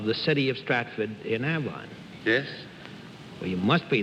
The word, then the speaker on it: Avon: How do you pronounce it? Avon.